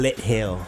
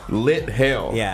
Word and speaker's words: Lit Hill: Lit hill. Lit hail. Like hell like snow hail. No, like the hill like a mountain like kind of like you put your light lit hill.